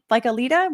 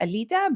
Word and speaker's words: Alita: With a name like Alita, which is not even technically the Lithuanian way of pronouncing it. It should be Alita, but most Americans can't really pronounce that. So so I do an Americanized version.